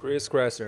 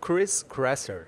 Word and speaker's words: Chris Kresser: Chris Kresser, é esse mesmo. Eu gostei mais da sua pronúncia, como é que é? Chris Kresser.